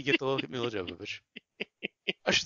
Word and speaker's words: Jovovich: It slows down a bit, but you get to look at Mila Jovovich. I should say Jovovich. I should Yeah. find out the correct pronunciation. The correct pronunciation is Jovovich.